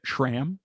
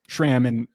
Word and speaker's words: SRAM: What I am going to Canal is SRAM, which, side note, I was also corrected on the pronunciation of SRAM recently because I used the H in pronouncing it. SRAM. Apparently it's SRAM.